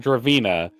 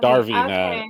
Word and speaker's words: Darina: So, I was going to be saying Draina instead of Darina over and over and over again.